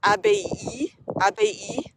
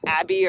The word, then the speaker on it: abbaye: Another quick fact is that in French, the word abbey is actually pronounced abbaye, not abbey or abbé, abbaye.